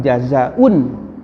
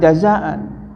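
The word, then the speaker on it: جزاء: al-hajjul mabruru laisa lahu jazaun illal jannah. Kenapa? Karena jazaun ini adalah isim laisa, ya, isim laisa disebutnya. Itu ada jurumiyah juga ada pembahasannya. Jadi jangan jazaan, jadi mansub, padahal harusnya marfu jazaun, tapi dibacanya laisa lahu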